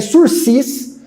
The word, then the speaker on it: sursis: quiser escrever a gente escreve sursis certo tem o s zinho aí no final será que mais uma palavra francesa que começa com s e termina com s quando é assim a gente não pronuncia o segundo é fica o surfista você vai passar vergonha sursi processual tá bom suspensão condicional